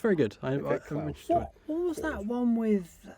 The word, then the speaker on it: Klaus: It's Okay. with a K, so Klaus.